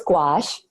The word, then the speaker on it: gouache: love adding gouache and I say gouache most people don't actually know how to pronounce the word so it's G oh you ACAT it's a French word and people will see